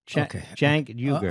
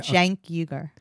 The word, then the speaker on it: Cenk Uygur: I'm getting the correct pronunciation of that guy's name. Cenk Uygur. Okay. Cenk Uygur.